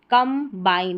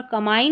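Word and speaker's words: combine: जैसे कंबाइन, तो यहाँ पर कमाइन नहीं होगा, कंबाइन होगा, बी यहाँ पर पढ़ा जाएगा।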